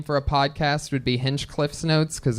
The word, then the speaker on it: Hinchcliffe: inch plus h h it's not itch there's not an inch in there it's h plus inch Cliff plus C that's how I tell people to spell my when